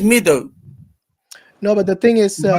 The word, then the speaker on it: Madhu: But it gave me it's the way I pronounce it is meadow, or Madhu, yeah, M-A-D-H-U.